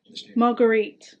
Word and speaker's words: Margarite: Like Margaret almost Margaret, but it's not Margaret.